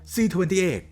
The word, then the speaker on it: Z28: ใจ บน ตัว ถัง หรือ ที่ ชาว อเมริกัน ออก เสียง ว่า C28 รถ เหล่า นี้ คือ